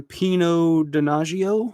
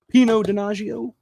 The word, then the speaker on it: Pino Donaggio: Includes the original soundtrack from Pino Donaggio. I believe that's how it's pronounced. Pino Donaggio.